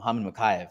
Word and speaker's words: Mokaev: Mokaev.